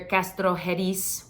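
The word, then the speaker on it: Castrojeriz: so you might hear castrojeres with an S sound that's okay too but the J is makes an H sound for us English speaker speakers number nine this one's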